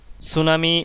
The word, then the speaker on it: tsunami: সুনামি জাপানি ভাষার শব্দ। ইংরেজিতে সুনামি লিখতে হয় টি এস ইউ এন এ এম আই। এটা স্টুডেন্টরা ভুল করে টি থাকার কারণে। কারণ টি এই বর্ণটার উচ্চারণ হয় না।